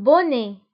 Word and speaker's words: bonnet: إذن قبعة، un bonnet. فبالنسبة للبوني تكتب ب2n، يعني اثنان من n، un bonnet. وأيضا تكتب بالتي في الآخر ولكن لا ننطقها.